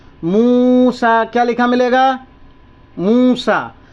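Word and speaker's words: موسى: मूसा क्या लिखा मिलेगा मूसा तो ये देखें यहां ये जो य लिखा है ना यह साइलेंट तो फिर क्या पढ़ने का तरीका तो आप देखें पढ़ने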